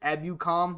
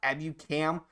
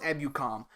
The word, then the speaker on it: Ebukam: His pronounce is Samson Ebukam, not Ebukam. However you said it, but it's pronounced Ebukam.